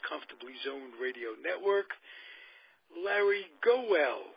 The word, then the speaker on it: Gowell: Well, I've been called a lot worse, Zig, but Gowell, put a little A on the O. It sounds like Gowell, but Gowell is the way it's spelled.